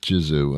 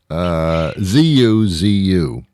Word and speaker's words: Zuzu: No, not Jizu. I don't know what that would have meant. Say it again. I thought I heard Jew, and then I was like, oh no. No. It's Okay. I will spell it for those that are hard of hearing. It's Zuzu.